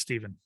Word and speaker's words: Stephen: I'm curious actually if it's Stephen or Stefan. I don't know. Stephen. As far as I know, it's Stephen. Yeah, it's spelled PH.